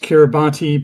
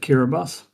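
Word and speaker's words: Kiribati: So it looks like it should be pronounced Kiraabati, but um the locals pronounce it Kiraabus.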